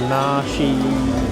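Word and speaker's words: Naxi: It was actually about the Nashi indigenous people of uh Yuna province. I hope I'm pronouncing that right. I think it's na n a x i ni I think.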